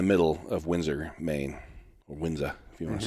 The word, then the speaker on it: Windsor: We're kind of right in the middle of Windsor, Maine, or Windsor, if you want to say it right.